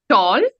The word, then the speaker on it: tall: did we pronounce them tall and fall right although we have a a in them we pronounce it as o so we say f